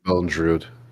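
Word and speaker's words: Bondrewd: The guy who's voice actor, that'll be Bondrude? Is that how you pronounce his name? Bondrude, yes.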